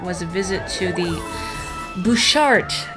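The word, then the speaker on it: Butchart: a visit to the bouchard gardens is how it's pronounced but when you look at the word it looks like a butt chart and we were both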